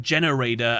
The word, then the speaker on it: Gene Raider: Gene as in like genes, like DNA? Or is it like generator as in like generating something? Generator but with a D.